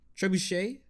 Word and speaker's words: trebuchet: history of a tr uh trivia trebuchet yeah is how you say it the little catapult type thing oh yeah yeah yeah trebuchet yeah and it was